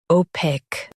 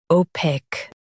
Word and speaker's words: opaque: opaque Now, read the syllables shown on the screen naturally. o paque opaque Stress paque and keep it smooth.